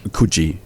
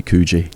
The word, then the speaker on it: Coogee: Bronte, and for those people over there, Coogee. For us, it would be Coogee. Yeah. But they can't pronounce it properly.